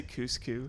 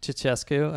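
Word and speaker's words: Ceaușescu: Did you just say Cuscu? Cuscu? Ceausescu? Ceausescu.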